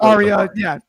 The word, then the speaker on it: Arya: first name right, but Araya, I think it's Araya Davari. I know it's Davari, but the first name I don't know how to pronounce that. I think it's Araya. Arya, yeah. Arya Davari.